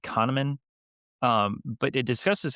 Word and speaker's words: Kahneman: It's by Daniel, I think it's pronounced Kahneman, but it discusses how